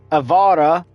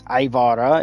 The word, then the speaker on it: Ivara: Then you have Excalibur, Equinox, Ember, Frost, Gara, Garuda, Gary, Grendel, Gauss, Haro, Hildren, Hydroid, Jade, Avara, not Ivara, it's Ivara, it's an I, not an E, okay?